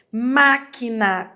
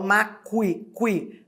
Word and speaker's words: máquina: Máquina tem dígrafo? Ora aqui eu tenho o que com o U. Porque esse U não é pronunciado. Eu não falo maqui qui, né?